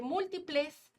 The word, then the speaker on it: múltiples: de la expresión de múltiples múltiples lleva el acento en la antepenúltima es una palabra esdrújula